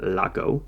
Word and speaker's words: Laco: brown the brown name the brand name lock Oh rhymes with taco that's why I remember